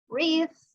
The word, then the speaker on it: wreath: Wreath, we did not pronounce the W.